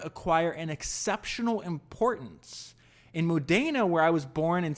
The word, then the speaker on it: Modena: I think it was, I pronounce it Modena. I think it's Modena. But he says, this is a quote from Enzo Ferrari.